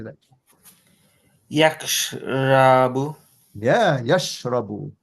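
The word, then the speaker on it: يشرب: Yahsabu, and the next one sounds the same, but with a sheen. So Zarif, how do you say that? Yakhrabu. Yeah, yashrabu.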